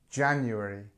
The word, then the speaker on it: January: Number one, January.